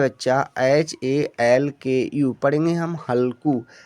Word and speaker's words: हल्कू: Next है बच्चा HALKU, पढ़ेंगे हम हल्कू। एच से तो हमने हॉ लिया, ए साइलेंट, एल से आधा ला, के से का और यू से बड़े यू की मात्रा, हमने लिख दिया हल्कू।